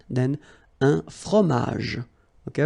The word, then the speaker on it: fromage: all right, then un fromage, okay, remember, G-E-J, okay, in that case, you don't insist on the final J, fromage, un fromage, all right, then une salade, un dessert, un café.